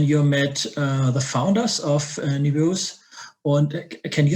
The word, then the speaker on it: Nebeus: And so the investors suggested it, and then you met the founders of Nebeus.